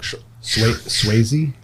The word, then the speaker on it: Swayze: oh patrick shwayze crazy how do you say that actually patrick swayze that's it right there the english language like i